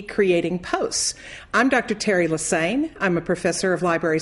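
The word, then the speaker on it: Lesesne: name doesn't look like lesane just remember it rhymes with insane I've been a professor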